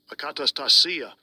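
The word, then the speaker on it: ἀκαταστασία: Akatastasia. Okay, so that's how you pronounce it, akatastasia.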